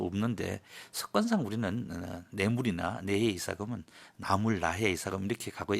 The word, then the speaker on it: 내해 이사금: 만나본 신라사 전공 교수들 중에는이 글자를 나보다는 나로 발음해서 나해 이사금 나무랑이라고 부르는 경우가 더 많았습니다 그런데 초중고등학교 교과서에는 아주 오래전부터 무왕이 아닌 내물왕 표기하고 있고 지금도 그렇게 올라 있습니다 두 발음을 모두 사용하되 해설 부분에서는 내해 이사금 내 무왕로 통일해서 칭하도록 하겠습니다 제 10대 임금인